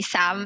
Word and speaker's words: Xam: is but you guys can call me sam and it's spelled with an x so it goes x am i'm currently id 120